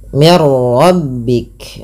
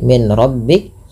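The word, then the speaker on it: مِنْ رَبِّكَ: Ah, ini ada nun sukun bertemu dengan ro. Yaitu cara membacanya masukkan bunyi nunnya. Tadi tidak dibaca lagi min rabbik tapi dibaca dengan mirbik dengan memasukkan bunyi nun kepada huruf ro dan kita kenal dengan istilah idgham bila ghunah.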